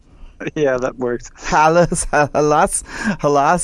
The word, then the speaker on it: Hallas: Hallas? Did I say it right? Yeah, that works. Hallas.